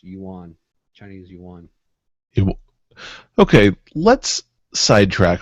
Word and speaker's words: yuan: one other note the uh that currency it's pronounced Yuan Chinese Yuan okay let's Sidetrack for a minute